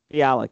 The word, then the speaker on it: Bialik: Bialik, yes.